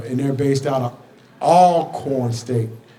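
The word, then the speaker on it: Alcorn: they're based out of all corn State please don't say Al corn it's all corn you got to get that all corn so I had to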